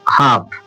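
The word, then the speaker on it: half: एम एफ के डी इनसे पहले अगर एल आता है तो वो साइलेंट होता है। देखो हाफ क्या पढ़ा जा रहा है इसे?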